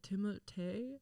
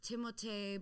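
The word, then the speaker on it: Timothée: how you say it timothee is that what he said i say it that way i i really want to honor his french roots yeah because it is stand out there is like an accent on the e right i remember there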